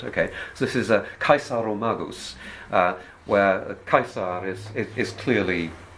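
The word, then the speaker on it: Caesaromagus: you get things like i'm going to pronounce it as if it were latin i rather than get complicated about how the celts pronounced it okay so this is a kaisaro magus where kaisar is is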